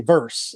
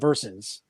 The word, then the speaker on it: versus: But the big sports one is when dudes say verse instead of verses.